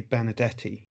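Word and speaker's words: Benardete: learned a lot such as how to accurately pronounce benedetti jose benedetti thanks dr malpass what's more i've paid a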